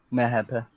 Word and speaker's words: MHP: Mehepe. Yeah. What did you say? Mehepe. MHD. That's how you say it in Turkish if you want to say MHD.